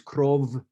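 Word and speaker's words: кров: in russian is blood in ukraine it's krov not with no f f type sound so creva vu you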